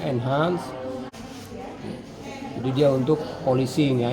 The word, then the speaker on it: Enhance: Ini mereknya Enhance, tapi ini sebenarnya Enhance. Jadi ini sebenarnya polishing material ya, untuk polish itu. Nama mereknya Enhance, kita bacanya Enhance.